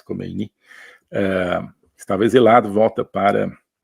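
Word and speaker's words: Khomeini: comunista eh o ayatolá comein ou kini parece que a pronúncia persa é mais kini eh estava exilado volta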